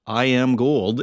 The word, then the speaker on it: I Am Gold: And I can confirm it is pronounced I Am Gold, and I got the full story on that, and it's more than you might expect.